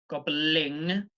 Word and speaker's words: gobbling: So in gobbling, it comes from the back of the throat, but with the last